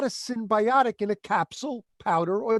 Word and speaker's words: synbiotic: It's called a synbiotic. That's spelled S-Y-N as in Nancy.